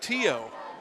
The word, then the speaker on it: Theo: It's actually pronounced Tio.